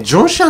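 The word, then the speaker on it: 中山: でも中山じゃなくて台湾ではこれね、ジョンシャンって読む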